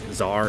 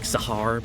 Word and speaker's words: Tsar: I know it's not like Tsar, it's like Sahar, but, you know.